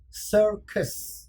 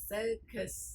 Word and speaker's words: circus: very good โอเคคำศัพท์เกี่ยวกับเรื่องที่ให้มีความสุข vocabulary that makes you happy circus circus อันนี้ก็อยากมีกฎยกมากที่ต้องเข้าใจคือ c ถ้ามี i ตาม c ก็ c